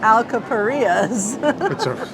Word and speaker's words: Alcapurrias: The Alcuprias. I would say Alcapurrias.